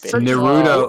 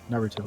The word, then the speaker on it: Naruto: fine whatever either way that is very common for uh english speakers to stress the second syllable whereas in japanese they stress the first syllable however they do do it very subtly which is why um it's misconstrued to the second syllable when people say naruto that sounds very deadpan